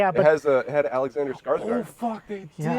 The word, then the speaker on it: Skarsgård: It's Scar, Scarred. What? Scar, like a scar, Scar. and then like guard with an S first.